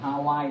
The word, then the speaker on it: Hawaii: The models arrive at a sugarcane field in Hawaii. Đấy, và đừng quên là phát âm của Hawaii bao giờ phải là gì? Hawaii, right? The last syllable.